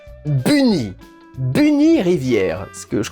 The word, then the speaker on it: Bunny: Prononcé bien à la française, donc Bunny.